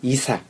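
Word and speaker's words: عيسى: 실제로 그런 것들이 있어서 그리고 예수란 이름이 무함마드, 모세, 즉 무사 그리고 이사. 예수님이 이사로 이제 아랍어 발음이 되는데 가장 많이 흔한 이름들 속에 들어가거든요.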